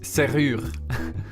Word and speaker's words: serrure: And there are some things that you notice in this word. For example, that you pronounce a U in a sentence as a U, and you also have the usual French R, which is r, coming straight from the throat.